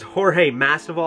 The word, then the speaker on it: Jorge Masvidal: So this is Jorge Masvidal, I believe is how you pronounce his name, and he's actually pretty cool.